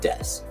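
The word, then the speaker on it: です: s in Japanese they put Des but it's pronounced Des So Tan Des and if you want to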